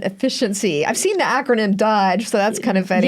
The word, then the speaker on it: DOGE: I've seen the acronym DOGE, so that's kind of funny. Yeah, they're pronouncing it Doge, like more like a, but it's fun.